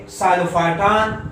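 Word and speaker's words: Psilophyton: सो नाम यहां से स्टार्ट होगा, नेम द साइलोप्सिडा, तो यहाँ पे टी है सो मेसेप्टेरिस, और पी साइलेंट है सो साइलोटम, यहाँ पे साइलोफाइटन, अरीनिया एंड कॉक्सोनिया।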